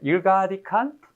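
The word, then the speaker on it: ergodic: 네, 대학 때는 에르고딕이라고 제가 들었어요, 발음을. 근데 나중에 봤더니 일가딕이라고 말하더라고요. 그래서 일가딕한 랜덤 프로세스다라는 거죠.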